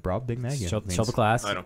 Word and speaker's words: Brobdingnagian: Sorry, I was pronouncing slightly wrong. Slightly. Brobdingnagian. No, yeah, that's right. Brobdingnagian.